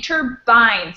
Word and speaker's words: turbines: Oh, here, turbines. Again, the same thing, turbines. It's a long I.